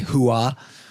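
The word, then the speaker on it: Hooah: That's spelled H O ah, by the way. Huah.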